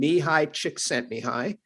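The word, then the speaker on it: Mihaly Csikszentmihalyi: by a researcher named mihai chick sent me high and i know when you look at the way it's spelled you would never think it's pronounced that way but it's it is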